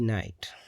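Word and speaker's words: night: यहां पर एन आई जी एच टी नाइट तो जी एच जो है इसमें साइलेंट है। लिखने में तो आता है लेकिन पढ़ने में नहीं आता है।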